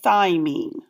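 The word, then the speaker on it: thymine: cystin say it cysteine thyine like you're eating a chicken thigh same kind starting out the same way so try to say thyine and this one's always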